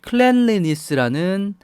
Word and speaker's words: cleanliness: 깔끔하다라는 말은 클랜스라는 명사를 생각할 수 있습니다. 발음을 좀 주의할 필요가 있는데 아니고 클랜스 이렇게 발음하죠.